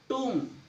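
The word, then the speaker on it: tomb: जब एम के बाद बी आए, जब एम के बाद बी आए, जब भी एम के बाद बी आओगा तो आपका बी साइलेंट होगा। टूम, लिम, थम, देखो इसमें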